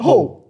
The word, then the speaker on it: Hall: Ronald Arthur Hill. Wait, is it Hill? It is, isn't it? Hall.